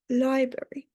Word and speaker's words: library: And our eighth word for today is library. This is also confusing because of the R after the B. So people could think they have to pronounce it, but it's library.